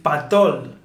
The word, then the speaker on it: pató: Okay, so if patol is para todo el, pato Para todo.